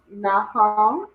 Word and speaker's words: Nahum: So the na is by itself, and the ha and the ma are connected. So make it what? nahum, Say it one more time.